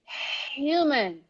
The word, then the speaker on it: human: barrier not barrier barrier number three human human human human and other examples here humane humane huge huge humongous humongous so the h is not silent all right in these